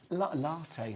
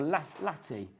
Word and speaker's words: latte: Latte, says Jimmy, or latte. How do you say it? Latte. You said latte to begin with, though, didn't you? You said latte. You rhymed it with like natty and batty.